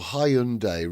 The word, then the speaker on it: Hyundai: He's leave or Hyundai rhymes with Monday.